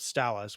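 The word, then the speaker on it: West Allis: Milwaukee suburb called called West Alice which is spelled the exact same way and the locals call it stallis which is nothing but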